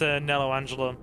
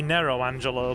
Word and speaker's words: Nero Angelo: Go face Nello Angelo. Well, technically Nero Angelo, but, you know.